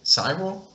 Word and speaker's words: Cyril: Michael, I never had know how to pronounce this name. C-Y-R-I-L? Cyril?